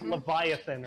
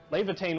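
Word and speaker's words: Laevatein: I always want to say like Leviathan or something. Yeah, it's actually Levitain.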